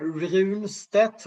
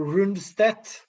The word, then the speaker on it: Rundstedt: The funny thing with this general that I mentioned, is called Runstedt, or Rundstedt, you could pronounce it.